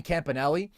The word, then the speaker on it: Campanelli: And I do think you have to credit Anthony Campanelli, not the authentic Italian pronunciation, by the way, of that last name, but we'll allow it. I guess it's the Americanization, and that's what he wants to go with.